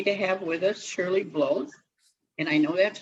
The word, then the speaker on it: Bloethe: i'm really happy to have with us shirley blows and i know that's how she pronounces her name because i just asked her